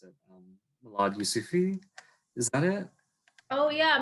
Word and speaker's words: Milad Yousufi: I'm not sure how to pronounce it. Milad Yusufi, is that it? Oh yeah, Milad Yusufi.